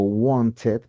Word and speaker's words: wanted: Entonces y Okay, entonces si el verbo regular termina en t o en d, le agrego ed, pero esta suena it, así como el verbo want, que es querer. Entonces, no digo wanted, sino como wanted.